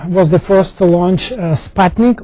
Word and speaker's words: Sputnik: So the Soviet Union, as we know, was the first to launch Sputnik, or as the Russians would pronounce it, Sputnik.